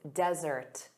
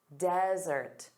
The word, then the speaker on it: desert: Desert. So, notice the syllable stress is on the first sound.